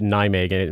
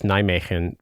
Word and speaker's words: Nijmegen: So like the place, remember where people do the Ruck March at Nijmegen, it would be, I think it's Nijmegen, or you may not even pronounce the last N because there's some interesting